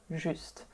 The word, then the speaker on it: juste: Again, if you just pronounce the say juste, it's one syllable, juste. And in this sentence, it becomes two syllables.